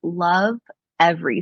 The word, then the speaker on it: Lovevery: Just the company is called Love Every. So it's spelled LOVEVERY.